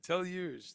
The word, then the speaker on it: deluged: Raymond Helfer says deluged. Yes, deluged. That's how you say it.